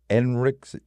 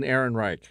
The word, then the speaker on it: Ehrenreich: Julia Garner, Josh Brolin, let me see, make sure I'm pronouncing it right. Alden Enric, Alden Ehrenreich.